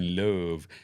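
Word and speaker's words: Love: year with Aaron Rodgers they now have Jordan Louvre as their quarterback that's how you say his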